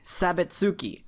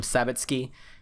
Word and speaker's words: Sabitsuki: Technically you're supposed to pronounce it like s key, but uh I I like pronouncing her name sabitski or sabatsuki.